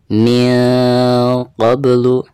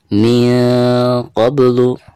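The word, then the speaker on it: مِنْ قَبْلُ: Cara membacanya min qablu, min qablu.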